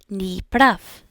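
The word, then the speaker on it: не прав: Ni prav. Ni prav. And again, the V sound at the end is almost going to turn into an F just because it is, I guess, more easy to say, and it doesn't matter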